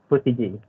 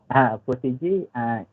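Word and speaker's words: protégé: The pronunciation is Protege. Protege, it is like a trainee before we join the actual or permanent position in Maybank.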